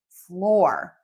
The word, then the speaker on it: floor: Number six, the sixth most popular video of all time, flower and floor.